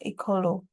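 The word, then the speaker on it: Ekolo: bir to the concept eolo according to her it's a word that rhymes with echology and means Homeland in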